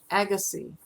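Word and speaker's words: Agassiz: Agassi, the Z is silent.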